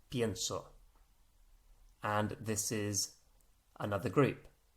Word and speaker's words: pienso: think but i think is not penso but the e has split into i e it's collapsed into ie i say collapse because it's to do with the stress that's being put on that syllable that makes it change so pento becomes pienso and this is another